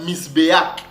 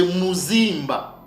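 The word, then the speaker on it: מזבח: sœurs ce nom là ce motl ne se prononçait pas misbéak non c'est mimba OK mimba ou bien aussi on peut on peut la l on peut le lire nzimba avec la le N la nasale donc on peut dire soit Mzimba ou bien zzimba ou tout simplement zimba OK doncimbaimba ou zimba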